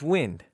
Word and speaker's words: Wynd: My pick is the book Wind, and the lead character's name is it's Wind. Would you, Spelled funky. would you look at that? It's spelled Wynd.